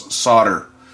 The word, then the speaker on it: solder: tell me that, that the proper way to pronounce it is solder, which is not the case. The L is definitely not silent.